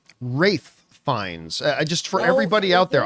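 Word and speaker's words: Ralph Fiennes: my favorite Greek tragedies by the way it's pronounced wraith fines just for everybody out there I know it's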